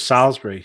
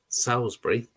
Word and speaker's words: Salisbury: was took from interesting video though this was salisbury so it's not actually too far away salisbury yeah is that how you pronounce it no salisbury salisbury salisbury but yeah that's not actually too